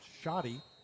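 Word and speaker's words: Schade: So, Republic gets the ball first and it will be Tanner Shotty to kick it off. Shotty, spelled S C H A D E, but pronounced Shotty.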